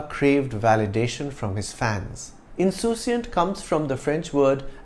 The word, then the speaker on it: insouciant: Insouciant comes from the French word insouciant. It has the same spelling as the English word but is pronounced differently.